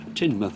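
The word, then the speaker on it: Teignmouth: for it really is that's tinmouth over there and depends where you come from as to how you pronounce it but Tim with will do um the wind's dropped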